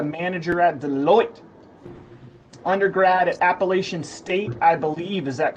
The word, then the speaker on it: Appalachian: Undergrad at Appalachian State, I believe. Is that correct, Nathan? I would pronounce it Appalachian State, but that's correct.